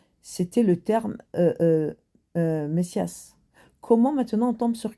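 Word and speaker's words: Μεσσίας: Mince, j'ai vu ça là prononciation grisse messias.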